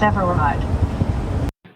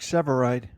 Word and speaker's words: Sevareid: would just be funnier Eric's ever revived Eric Sevareid Robert it's Eric Sevareid I've never heard of